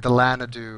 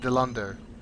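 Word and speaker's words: Dilandau: and she kept saying Delanadu or something like that. Groot. Groot. You know, that's Groot. I saw it's a Dilando. character. The name is pronounced Dilando.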